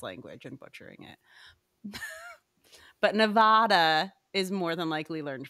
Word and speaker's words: Nevada: But Nevada is more than likely learned from reading.